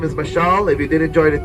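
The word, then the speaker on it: Mashal: Um, a lot of people ask me if my name is Marshall or Michelle. My name is Michelle. It's spelled M A S H A L.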